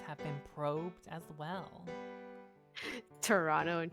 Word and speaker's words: Toronto: Toronto and Toronto. Toronto. Let's go to Toronto. There, I did it. Yeah. Say it like the locals. Yes. Don't say Toronto.